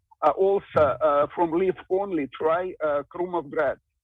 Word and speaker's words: Krumovgrad: Kent, if you like Basma, also from leaf only, try Krumovgrad. It's a Bulgarian Oriental. It has flavor very similar to Basma, but with a less spice. Tell me, how would I spell that? Krumovgrad with K, K-R-U, Krumov.